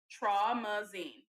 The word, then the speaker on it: Traumazine: So she posted just this blank, or just the definition of traumazine. That's how you pronounce it.